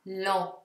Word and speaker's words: lent: Perciò la parola impero in francese si leggerà empire, empire, mentre EN si legge en, quindi lento si dirà lent, lent.